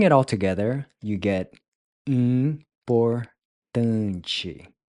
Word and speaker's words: importante: Then finally, the IM is a nasal sound which is pronounced sort of like in, except you don't quite finish pronouncing the G at the end.